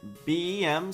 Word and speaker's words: BEM: On the other hand, BEM sounds like the letters B E and M.